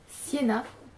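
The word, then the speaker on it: Sjena: En gros, on va se retrouver sur une île, Siena, je suppose que ça se dit comme ça s'écrit S-J-E-N-A, donc Siena.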